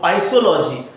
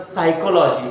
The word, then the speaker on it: psychology: correct the particular sentence sometime the word is psychology some student they say about pisology so here is a p silence so that's why we we can say that the psychology okay this is how